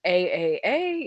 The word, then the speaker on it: AAA: so um it's like is it pronounced a-a-a is it ah um which is the joke but it's it's AAA so all of that